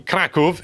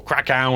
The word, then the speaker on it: Kraków: don't know, it's set in Kraków in Poland, or Krakow, you might have heard of it as that, depending on how you pronounce it.